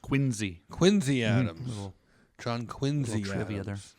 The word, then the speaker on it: Quincy: Yeah, pronounced Quincy.